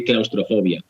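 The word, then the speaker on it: claustrofobia: Well, it's the same, but with a weird accent. We say claustrophobia.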